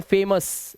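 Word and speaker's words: famous: video को पूरा देखो यदि किसी वर्ड के लास्ट में ओ यू के बाद अगर आर या एस लेटर आए तो ओ यू का उच्चारण सीधा आ कर देना जैसे यहां पे देखो ओ यू के बाद आर तो कलर आ का उच्चारण हार्बर ठीक है ऑनर इसी तरह से फेमस यहां पे आ इस तरह से ओ यू के बाद एस दिखाई दे तो डिलीशियस डिलीशियस उआ कुछ मत करना प्रेशियस आ की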